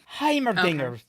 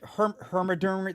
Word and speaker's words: Heimerdinger: Heimerdinger. Okay. I hate my dad does not want to, like, he intentionally mispronounces Heimerdinger and it pisses me the hell off. It's like Heimerdinger? all like Hermiderm, like he's just like